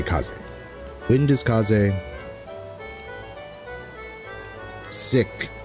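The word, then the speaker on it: 風邪: Now the first interesting thing about this is that there's an extra kanji next to wind that you do not pronounce when you're talking about the kind of wind that gets you sick.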